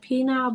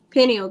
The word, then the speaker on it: pineal: Because it's I call it penile, but I know that's not. I don't know why I pronounce it like that. Pineal gland.